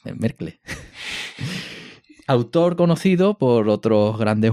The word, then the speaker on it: Merkle: No Merkel, Merkle.